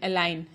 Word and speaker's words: align: Rule number 1, the letter G is not pronounced when it comes before the letter N in a word.